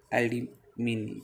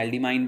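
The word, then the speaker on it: aldimine: ये क्या है आपके पास, ये आपके पास एल्डिमीन या आप कहीं प्रोनाउंसिएशन आपने एल्डिमाइन भी सुना होगा इसका।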